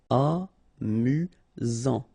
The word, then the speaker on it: amusant: Amusant. Final T not pronounced. You've got only one S here between the vowels, so it's really this Z sound. Amusant.